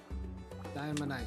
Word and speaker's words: diamonite: very threatening Oh dialight diamonite diamonite yes that is how it is pronounced okay let's go here